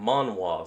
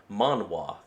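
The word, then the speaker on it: manhwa: done market research and alien fiction as Skyrocket monoir so that's how it's actually pronounced okay reason why I was wondering about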